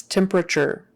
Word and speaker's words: temperature: temperature temperature Tim or temp temper that t is typically pronounced like a CH if you were to